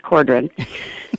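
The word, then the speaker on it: Cawdron: Green Men by Peter Cordon that's spelled c a w d r o n but he swears it's pronounced Cordon you know Australians right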